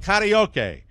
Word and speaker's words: karaoke: The inventor of karaoke has died. Thank you for pronouncing it right.